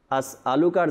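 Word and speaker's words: أسألك: পেশ লু আছে আলুকা এখানে ওই হামজার জায়গায় শব্দ হয়তো না চেনার কারণে বা আপনার খেয়াল না করার কারণে আল্লাহুম্মা ইন্নি আসলুকার জায়গায় আইন উচ্চারণ হয়ে যায় এখানে আলু আসলুকা তো এই শব্দটার দিকে যেন আমরা খেয়াল রাখি হামজার উপরে জবর আছে আইন নাই এখানে এখানে যেন আইন উচ্চারণ আমরা না করি এরপরে এই দোয়াটার মধ্যে শরীফ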